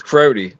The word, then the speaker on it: Crotti: It looks like it says Crotti, but it's Crotti. So Italian last name.